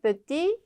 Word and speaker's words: petit: 자, 요거 발음 안 되죠? 끝에 petit. 근데 을 붙여주니까 petite 발음이 되죠. 마찬가지 요것도 뭐 그랜드 오픈 이런 거 많이 보셨죠? 큰이라는 의미인데 사람한테는 키가 큰 grand 발음 안 되고 있죠? 여성은 grande 발음이 된다.